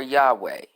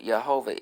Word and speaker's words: Yahweh: the god of israel jehovah is a modern mispro pronunciation of the hebrews word resulting from combining the consonants of the name they have here j h v h which in the tetragrammaton it was y h w h with the vows of